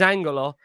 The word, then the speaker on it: Ange: who's asking who is Angela? I'll let Christina explain that with her. Sorry. It's just that's how you say it in Greek, Angelo. So I'll say Ange. I'll just say Ange for now.